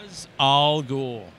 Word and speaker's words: Ra's al Ghul: Ra's al Ghul. You heard it from... R-A apostrophe S is pronounced Ra's. There's no S-H in there.